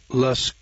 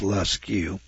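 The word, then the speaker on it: Lascaux: today in altamora spain uh las france that's spelled l-a-s-c-a-u-x i guess that's less q france and then ribba let's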